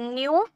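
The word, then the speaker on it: know: form हो जाता है न्यू एंड थर्ड फॉर्म हो जाते है नोन ठीक है नो न्यू नोन नो न्यू नोन इसका के साइलेंट होता है नो नहीं पढ़ेंगे नो पेंगे नो न्यू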